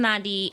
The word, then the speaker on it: Nandi: Spell Nandi for people who don't know. Nandi. For sure. And it's pronounced Nandi.